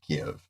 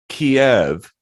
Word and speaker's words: Kyiv: And I was like, wait, I've always heard them pronounce it Kyiv.